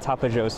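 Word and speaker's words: Tapajós: Those are the redhead Tapajos, or redhead Tapajos is actually how you pronounce it, but that's a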